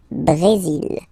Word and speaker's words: Brésil: Okay, you will pronounce the final L here. And then remember, accent aigu goes like E. Brésil.